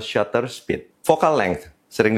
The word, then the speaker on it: shutter speed: vifinder ingat view findinder Shut speed sering terucap sebagai Shooter speed atau Shooter Speed yang benar adalah shutter speed vocal length sering diucapkan